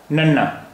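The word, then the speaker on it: ਨੰਨਾ: पंजाबी भाषा का 25वां अक्षर नन्ना। नन्ना, इसका उच्चारण हिंदी के ना जैसा है, नन्ना।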